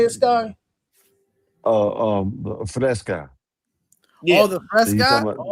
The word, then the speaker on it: Fresca: What they call it, Vesta or the Festa, or how you say it, Sky? Fresca.